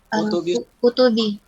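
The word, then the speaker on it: كتب: Kalau beda berarti pasti beda bacanya. Ya. Ini bentuk mufrad, ini bentuk jamak. Ya. Jadi harusnya apa? Dibaca apa ini? Kutubi. Nah, ahsantum.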